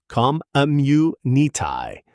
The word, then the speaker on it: community: Pronunciation tip, the stress falls on the third syllable, community. Americans tend to soften the middle U almost into a schwa sound in casual speech.